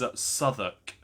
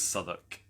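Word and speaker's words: Southwark: It is Soduk. It's spelled South Walk, which has stupidly tripped me up before, but it is Soduk.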